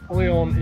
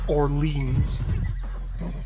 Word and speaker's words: Orléans: Orléans is up here. Nope, I'm making sure not to call it Orleans. Not that there's anything wrong with that, but that is not how it's pronounced in France.